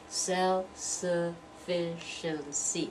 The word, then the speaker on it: self-sufficiency: a lot more syllables self-sufficiency we've got five syllables self-sufficiency now you've got first one's self has a little bit more stress than the others that's the secondary stress but the one that